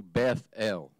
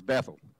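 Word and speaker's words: Beth El: him to go to Beth L in case you don't know what Beth L is we generally or in growing up we always heard it as Bethel well it's really kind of a two-syllable that's why I did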